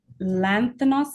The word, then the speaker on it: Lanthanos: Now, you did mention the Lanthanos Project. Am I pronouncing that properly? Yes. Yeah.